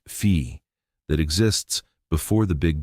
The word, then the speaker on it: phi: In Strum's model, consciousness is described as a field, the Greek letter phi, written as a symbol, pronounced fee, that exists before the Big Bang in an undifferentiated, timeless state.